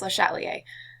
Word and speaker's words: Le Chatelier: Le Chatelier, I always pronounce it wrong. I'm not French, so I don't have the not pronouncing the R down yet, but yeah, it's Le Chatelier.